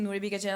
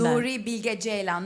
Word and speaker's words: Nuri Bilge Ceylan: watching paintings and writing stuff and then watching Nuri Bilge Ceylan. I was like, I need to slow down. Wait, also, can you pronounce his name for Americans who don't know him? Full name and Nuri Bilge Ceylan, not Nuri Bilge Ceylan.